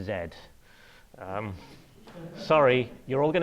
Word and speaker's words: Z: in in the pub last night this is pronounced Zed um sorry you're all going to hate that